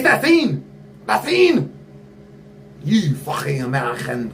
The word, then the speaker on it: Seine: You look at your river, your beautiful scene that you yell at people to pronounce it right. All right, the Seine River. It's the Seine!